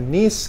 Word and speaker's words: niece: Ini bacanya niece, kalau itu nice ya.